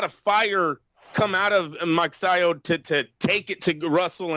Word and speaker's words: Magsayo: Masayo, how do you say his name? Magsayo. Magsayo, he won the fight.